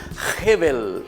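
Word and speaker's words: הבל: Eso significa la palabra Hebel en hebreo.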